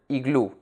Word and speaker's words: iglú: case is the word iglú. Iglú has two syllables, I and glú. Glú, which is the last syllable of the word, is the stressed syllable.